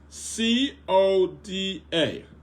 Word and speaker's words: CODA: you can someone give me the acronym of c o d a what does that word mean c o d